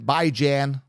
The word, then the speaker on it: Bijan: But Bijan Robinson, Bijan, which is the proper way to pronounce it.